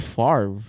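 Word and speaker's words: Favre: thing is that like the r is after the V so I know why is it farre like on paper you should pronounce it fa I mean where's he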